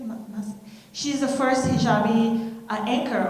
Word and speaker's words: Massa: Massa.